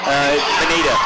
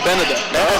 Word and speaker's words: Beneda: Number 35, Kelsey Beneda. Benita. And I asked him on that, and it's actually Beneda. Yeah, thank you. I pronounced it wrong. I went over and asked the guys for sure, and they both said to me Beneda.